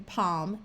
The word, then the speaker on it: palm: This works even if the L in the word is silent, like in palm and stalk.